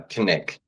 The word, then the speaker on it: Knik: I am here with WDE Mars, who was born and raised in the historic mushroom cradle of Nick, Alaska. Am I pronouncing that right? Uh, Kick.